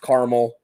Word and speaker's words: Carmel: and there's other uh carmel is pronounced caramel um oh we suppose